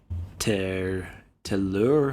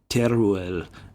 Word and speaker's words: Teruel: a major assault against how do you pronounce that word? Telur or something. Was that Teruel? Yeah, Teruel. I'm pretty sure that was the assault.